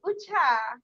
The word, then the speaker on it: Uche: Like people always mispronounce my name. Yeah. Uche. They always Uche. mistake it for One Uche. mama. It's Ucha.